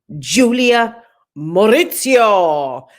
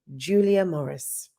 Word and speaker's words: Julia Morris: Coming up, we'll be chewing the fat and gulping some of it down too with Lady Julia Maurizio. I'll say it properly now. Lady Julia Morris, the legend that is Julia Morris.